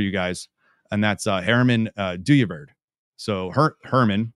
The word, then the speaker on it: Dooyeweerd: r m- an and du is a Dutch name it's d o o y we ER D so it's spelled kind of like do ye weird but do is the way that you say it um at least the best way I could say it not being Dutch um so we're going